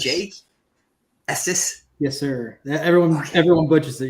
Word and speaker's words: Estes: Well, it's funny because I either get Estes or Estes. I'm like, I'm not Spanish, and it's not Texas.